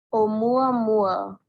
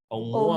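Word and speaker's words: ʻOumuamua: ¿Cómo se dice? A ver. Oumuamua. Oumuamua. Oumuamua. Oumuamua. Así se dice.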